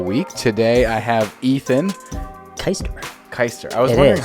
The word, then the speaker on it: Keister: My last name is spelled Keister, so it's Keister. Yeah. But the proper pronunciation is Keister. Where's it from? It's German, Okay. actually. I myself am not German. My father is. And yeah, no, he pronounces it Keister.